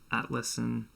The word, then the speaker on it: Atlassian: In this episode, I talked to Charlie Jurad, who recently switched from the software consultancy ThoughtWorks to product company Atlassian.